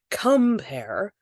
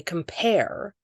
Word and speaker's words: compare: The stress is on the second syllable. We don't say compare, we say compare.